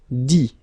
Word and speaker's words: dit: Dire, I-R-E, will become I-T, dit. Okay, phonetically, same thing here. You don't pronounce the final T.